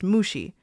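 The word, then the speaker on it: 虫: There are lots of homophones in Japanese, but that last character here is the character for bug, pronounced Mushi.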